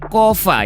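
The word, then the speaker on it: COFA: Pemerintah Cuk menandatangani Asosiasi Kerjasama Bebas atau Compact of Free Association, dibacanya KOFA ya, dengan Amerika Serikat pada 1982 lalu sob.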